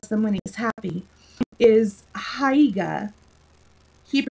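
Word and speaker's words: Haigha: he only does them when he's happy is hiya he pronounced it's tough to ride it with hair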